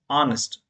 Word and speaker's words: honest: So you should not pronounce honest. This is honest. H letter is silent here.